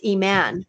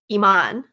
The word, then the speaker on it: Iman: i have a co-facilitator her name is e-man but everyone says iman because that's a more common pronunciation and i've now stepped